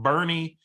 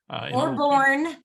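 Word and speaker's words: Boerne: She's actually in Bernie, Texas, which is or born.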